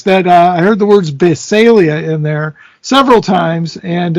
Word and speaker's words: Basilea: other way, just because that's the official Mantic pronunciation. So for wait, Mantic Ben. product. What's the official way? Basilia. Basilia. Okay, Basilia.